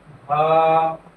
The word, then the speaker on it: ح: হা উচ্চারণ করব আমরা গলা একটু চাপ দিয়ে ধরে, হা, আ, হ, দাল, দাল,